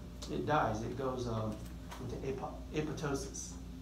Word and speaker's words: apoptosis: It goes into apoptosis. Spelled apoptosis, although the second P is silent.